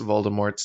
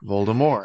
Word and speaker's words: Voldemort: pronounced voldemort's name polymor voldemort he stops that at some point i think in like six or seven he switches to voldemort i mean i don't unders yeah like because it's a french name and he never spends